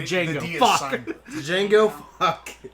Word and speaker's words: Django: uh god django um django the d is silent then go [ __